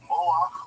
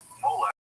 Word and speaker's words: Moloch: Moloch, or Molech, the Masoretic and the Septuagint of the biblical text, contain two distinct ways of pronouncing this name, has become among the